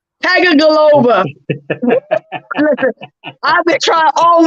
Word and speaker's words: Tagovailoa: How you pronounce it? Don't do it. Tua Tagovailoa. Tagovailoa.